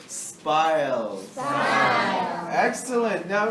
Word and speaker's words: spile: Spile. Excellent. Now it rhymes with smile, an easy way to remember.